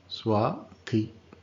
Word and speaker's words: Swathi: So it's pronounced as Swathi.